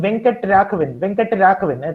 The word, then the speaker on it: Venkat Raghavan: There was this person, Venkat Raghavan, a Tamilian, Venkat Raghavan, and the Englishmen couldn't pronounce his name, and they just pronounced it Van Cut Caravan.